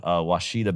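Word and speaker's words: Ouachita: Yeah, Washita.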